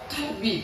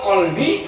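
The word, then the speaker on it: قلبي: anjing di dalam hatiku Kabi huruf Kaf bukan huruf q kalau qbi artinya Hati tambatkan hati di dalam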